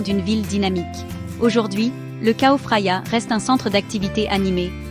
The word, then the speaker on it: Chao Phraya: Prononcé Chao Phraya, ce fleuve nourricier de Bangkok serpente à travers la ville, offrant une captivante tapisserie d'héritage culturel et de merveilles modernes.